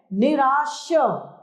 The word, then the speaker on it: निराश: निराश शब्द गलत है निराश श शलजम वाला श सही है वर्ष गलत है वर्ष